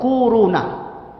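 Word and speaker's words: كورونا: Corona. Corona. Bacanya tuh kuruna.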